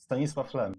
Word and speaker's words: Stanisław Lem: I'm going to mispronounce it, I'm sorry, but Stanisław Lem. How do you pronounce that? Yeah, Stanisław Lem.